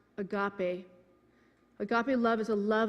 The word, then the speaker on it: agape: definition of agape love is a Greek word pronounced agape Agape Love is a love of choice not